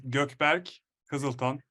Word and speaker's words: Gökberk Kiziltan: So the true spirit of it is Gökberk Kiziltan.